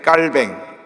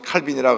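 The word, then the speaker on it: Calvin: 그래서 이 장로교 창시자인 깔뱅, 이제 우리 영어식으로 칼빈이라 그러는데, 이 프랑스 지역에서 태어나서 이제 원래 이름은 깔빈이라고 합니다. 그래서 프랑스에서 공부하고 온 사람은 칼빈이라고 하면 무식하다 그래요. 근데 칼빈은 미국식 발음이고 깔뱅은 이제 프랑스식 발음인데, 이 깔뱅이 장로교를 창시하면서 5대 강령을 발표합니다.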